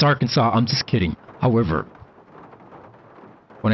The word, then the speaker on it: Arkansas: I know it's Arkansas. I'm just kidding. However, when I first came to America and I drove through our Kansas, I mean Arkansas, I actually thought it was R Kansas.